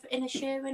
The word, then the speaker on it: Inisherin: Yeah, I watched The Banshees of Inisherin, I believe it's called. I think that's how you pronounce it. Yes, you as a watched that resident Irishman, you did say it correctly. Thank you.